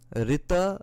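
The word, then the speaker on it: ṛta: in the religious world rita is right. So you see, the word itself kind of has the exact same pronunciation, right? RTA, rita, right, right, RITE, RIGHT, RTA. There's a similarity here.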